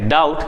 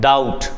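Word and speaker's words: doubt: को हम कहते हैं डाउट जहां पे बी होता है साइलेंट डाउट शक करना डाउट करना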